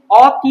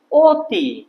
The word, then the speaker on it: অতি: যখন অতি উচ্চারণ করি এখানে অতি বলি না আমরা কি বলি অতি তাহলে এটা কি হবে অ এর বদলে এটা হবে অ এরপরে ত এ রসই অতি কিন্তু অনেক যখন উচ্চারণ